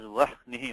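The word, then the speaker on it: वह्निः: Pronounced as vahnihi only. And brahma, vihvalaha, ahladaha. Not the other way around. Not brahma and not, vanhi.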